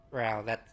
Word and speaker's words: Fra: Fra that's that's how it's pronounced. Not not like frog or anything.